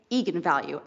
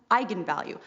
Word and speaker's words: eigenvalue: the director said yes that is how you pronounce it so I went out there and said that's right egon value and then apparently the internet went nuts when it came out because apparently it's pronounced eigenvalue that's how you're supposed to say I'm the